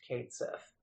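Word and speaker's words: Cait Sith: Sith including not pretending like his name isn't pronounced katth yeah everyone knows that his name's pronounced tetus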